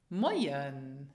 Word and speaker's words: Moyen: So they have the same sound, oi, as in the English word boy. Moyen.